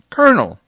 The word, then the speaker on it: colonel: make the r sound c o l o n e l is pronounced kernel well i think you